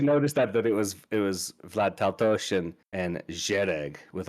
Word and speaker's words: Taltos: And for what it's worth, we've been pronouncing Taltos wrong. Steven Brust would say it's Taltos because it's Hungarian.